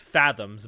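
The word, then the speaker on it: FZMZ: looked something up uh FZ MZ which is supposed to be pronounced fathoms by the way I don't know where you get the word fathoms from there but it is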